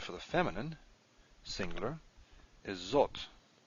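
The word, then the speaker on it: זאת: the feminine singular is zot and it is spelled like this now you have an olive in here and you can't hear the olive so you just got to know it's there don't forget that alaf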